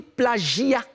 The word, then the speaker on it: plagiat: On dit plagiat. C'est plagiat. Répète après moi, plagiat. Plagiat. Voilà. C'est pas plagiat. Comme je l'ai dit. J, c'est Voilà, Gia. plagiat.